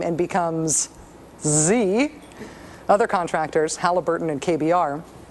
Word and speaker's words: Xe: z z better yet it is pronounced Z but it's spelled XE all the better to